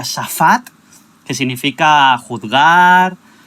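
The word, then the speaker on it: שפט: concordancia hebrea que significa o sea que se pronuncia tsafad que significa juzgar o castigar tal se puede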